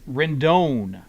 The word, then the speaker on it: Rendon: We're talking about second base, and Rendon is how you want to pronounce it.